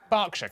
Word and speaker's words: Berkshire: ER is pronounced R. Berkshire, Clerkenwell, Hertfordshire.